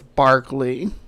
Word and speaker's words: Berkeley: I believe the proper British way to say it is Berkeley Square. It looks like it's Berkeley, but it's Berkeley.